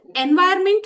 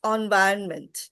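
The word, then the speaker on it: environment: more doubt ma'am it's इज इट एनवायरमेंट और एनवायरनमेंट इट्स एनवायरनमेंट कैन you please repeat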